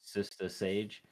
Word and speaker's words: Sista Sage: Sista Sage. Yeah, it's pronounced exactly like that.